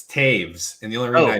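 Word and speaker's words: Toews: still impressed Scott that you knew how to pronounce his last name it's Taves and the only reason I know that is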